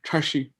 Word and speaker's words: tashi: say it correctly kelly curl your tongue back a little and say tashi yeah when you say